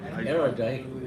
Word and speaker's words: erudite: Erudite. Okay. Huh? Erudite. Erudite. Sorry. Erudite might be a mineral.